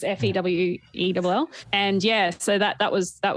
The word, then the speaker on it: Fewell: It's Fewell.